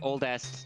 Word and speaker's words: Oldeste: again oldest you're like you're thinking Z you're pronouncing it wrong that's so l no it's oldest 100% but it's a short